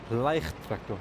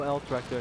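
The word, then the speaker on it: Leichttraktor: and we got the mighty Leicht tractor, guys. Yes. No low tractors, no L tractor, just call it a Leicht tractor.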